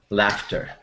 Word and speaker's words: laughter: laughter okay thank laughter in this word the G and H sound like the letter F okay laughter yes and I have